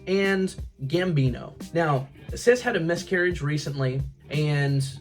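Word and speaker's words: Cis: One being Sis. I believe that's how you say her name, C-I-S. If they wanted me to say it any way else, the spelling could have helped a little bit more, but I'm gonna say Sis.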